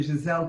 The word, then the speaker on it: Giselle: Giselle, she pronounces it in the French way. Myself being here in Brussels, I'm very happy to know that. Dr. Giselle Corby-Smith, MD in MSc.